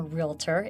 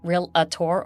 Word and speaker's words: realtor: career choice I'm a realtor it's not real Ator or real Ator it's realtor two two syllables realtor you're not a docor